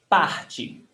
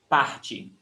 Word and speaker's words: parte: Você parte. Pronunciation tip. When the word ends in I, in E, letra E, the pronunciation is I. Parte.